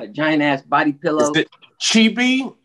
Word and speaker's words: chibi: giant ass body pillow cheapy cheapy is that pronounced right yeah chibi is the type of